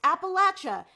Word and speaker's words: Appalachia: Also, it's pronounced Appalachia, not Appalachia.